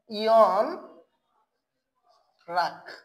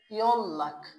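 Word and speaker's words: 연락: তাহলে আমরা বাংলায় দেখো লিখতেছি তাহলে ইয়ন রাখ, কিন্তু এটার সঠিক এবং শুদ্ধ উচ্চারণটা হয়ে যাবে কি ইয়ন লাখ।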